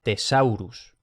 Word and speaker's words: thesaurus: En general se va a pronunciar T normal, también cuando aparece TH, que es infrecuente pero puede pasar. Entonces, benedictus y thesaurus.